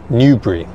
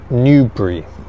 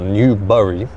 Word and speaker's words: Newbury: Today, we're in the small town of Newbury. So, we're in Newbury. Newbury has around 42,000 people living here. So, the population of Newbury is around 42,000. The pronunciation of the name is Newbury.